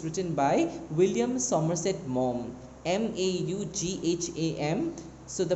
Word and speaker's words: Maugham: The story is written by William Somerset Maugham, Maugham. So the pronunciation is Maugham.